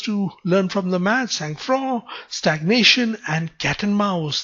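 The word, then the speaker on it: sang-froid: is not pronounced the sangroid is pronounced as sang fro it has a french pronunciation to it as well so this refers to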